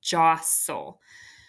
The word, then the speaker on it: jostle: circled is an exception Joss soul Joss o that t is silent so the first syllable is closed the second syllable is